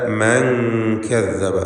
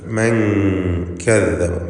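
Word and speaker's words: مَنْ كَذَّبَ: അലാ മൻ കദ്ദബ, സാക്കിനത്തായ നൂനും ശേഷം കാഫും വന്നിരിക്കുന്നു. ഇഖ്ഫാ ഹഖീഖി എന്ന നിയമമനുസരിച്ച് നൂനിനെ മറച്ചു മണിക്കണം, അവ്യക്തമാക്കി മണിച്ചുകൊണ്ട് ഉച്ചരിക്കുക. മൻ കദ്ദബ, മൻ എന്ന് ക്ലിയറാക്കരുത്. മൻ കദ്ദബ കദ്ദബ വതവല്ല.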